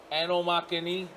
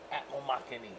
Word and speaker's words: Atmomixani: Atmomixani. That's how simple you say his name. Atmomixani.